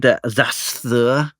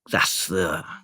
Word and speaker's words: Xasthur: Because a metal guy that I like called Zasthur. And can I get away with this? it's spelled Xasthur. Zasthur.